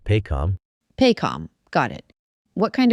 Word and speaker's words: PAHCOM: Also, tapping into resources like PAHCOM, that's PAHCOM, pronounced PAHCOM.